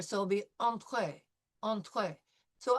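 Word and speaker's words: entrée: So, I would like all of us to pronounce entree in French with the French pronunciation. So, entree. It'll be e n through the nose and then the t with the entree.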